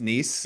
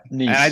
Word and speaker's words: Nice: Is it pronounced Nice? Yeah, I Nice.